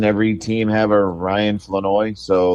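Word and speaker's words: Flournoy: Ryan and we just found out this it's floi is how you pronounce it not floro so how about thatoi floi that's what it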